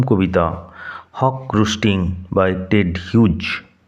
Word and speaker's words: Hughes: আজ আমরা পড়ব ক্লাস 12 ফোর্থ সেমেস্টার প্রথম কবিতা হক রুস্টিং বাই টেড হিউজ। উচ্চারণ লক্ষ্য করো, টেড হিউজ, নট হাগিজ, টেড হিউজ।